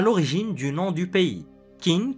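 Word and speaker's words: Qin: du nom du pays Kin qui se prononce chin est à la base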